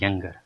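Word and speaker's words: Iyengar: तो वो थे HVR यंगर। आई साइलेंट आप रखिएगा, HVR यंगर साहब हमारे कॉन्स्टिट्यूएंट असेंबली के सेक्रेटरी थे।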